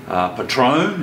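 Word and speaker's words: Patrón: So just to warm things up a little bit, I thought we'd have a chat about Patron, as it's properly pronounced, Haydos.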